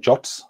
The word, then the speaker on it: JWT: people will call them jots i think the the official specification says the pronunciation of jwt is jot i personally have a